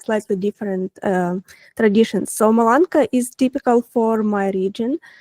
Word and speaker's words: Malanka: I saw Malinka. Is is pronunciation correct? Let me show you. Malanka and I read that it is like Oh yeah.